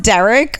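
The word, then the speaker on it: Darrick: guy spells it d-a-r-r-i-c-k Derek yeah but it's pronounced Derek like oh just so many things wrong with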